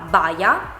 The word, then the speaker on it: baia: It is pronounced very quickly and very directly. "Baia".